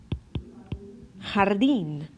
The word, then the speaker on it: jardín: A great example that is often mispronounced of this sound is in jalapeno. Right? Jalapeno. Jalapeno. Not jalapeno. Jalapeno. Jalapeno. Or jardín.